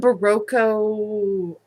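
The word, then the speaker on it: Berroco: some baroco oh I said it right some barroco Ultra alpaca some nature spun worsted by the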